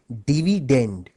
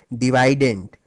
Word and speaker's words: dividend: as dividend by the way the correct English pronunciation of this word is actually dividend but since divident ranks better with divisor thus the students prefer